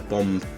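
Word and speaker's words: bombe: the previous section which was the the uh bomb uh machine b o m b e that's spelled um this is an actual working one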